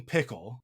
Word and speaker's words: Piccolo: we spell it and the way that we say it is like Piccolo, like the instrument. But King Piccolo is King Pickle. That's his name in Japanese, right?